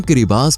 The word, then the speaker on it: Kiribati: दोस्तों, किरिबाती, जिसे हम किरिबास भी कह सकते हैं क्योंकि स्थानीय लोग ती को स के रूप में उच्चारण करते हैं, एक ऐसा देश जो अपनी खूबसूरती और चुनौतियों के लिए जाना जाता है।